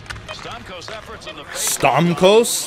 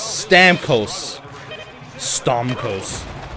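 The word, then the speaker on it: Stamkos: season guy pay attention stort the Co that is not how you say his name it's Stam Co stos that's just weird anyway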